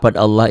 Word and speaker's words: Allah: yang pendek itu qasar Allah ini dibacanya tipis bunyi a ya jangan B jangan bunyi Oh tapi bunyi a a bismillah ya jangan Bismillah nya dibaca tipis itu namanya tarqiq Kenapa karena ini tuh